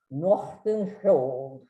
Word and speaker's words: Nordenskiöld: By the way, his last name is almost impossible for a non-Swedish speaking person to pronounce. It means Northern Shield. And the closest I've come to a pronunciation that would be acceptable to a Swede is Nordenskiöld. That's the best I can do.